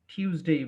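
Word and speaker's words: Tuesday: তো এইটার সাথে মিল রেখে আমাদের এটা মনে রাখতে হবে, যেটাকে আমরা টটাকে ঠ উচ্চারণ করে টিউজডে বলবো।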